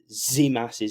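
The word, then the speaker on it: Tzimas: Because we've got Welbeck, Costellaz, and I've got told that today you don't say the T in Zimas's name. Apparently, you say Zimas.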